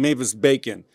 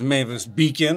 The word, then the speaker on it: Mavis Beacon: I'm sure a lot of people are saying Mavis Bacon. It is not Mavis Bacon. Yeah. It is Mavis Beacon, as in the rhyming scheme really helping correct people's pronunciation.